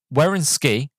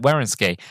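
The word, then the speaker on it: Wynorski: As for casting, Wierenski, right, here you go, that's how you pronounce it, Wierenski, says Kelly Moray was cast because I had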